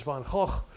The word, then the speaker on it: Gogh: on by stuff from Van Gogh onwards actually the the pronunciation is von hawk because he was Dutch although he spent most